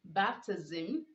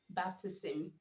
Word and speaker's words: baptism: with sm after end you are to pronounce the s making the z sound so you say baptism not baptism you say sarcasm not